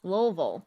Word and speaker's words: Louisville: Like, Louisville, Kentucky is Louisville, not Louisville, not Louisville, it's Louisville.